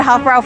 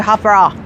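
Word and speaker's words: Hofbräu: I pronounced it Hofbrau forever. I know it's supposed to be Hofbrau.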